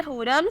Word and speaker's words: Hooram: नाम है हुरम, स्पेलिंग है HOORAM।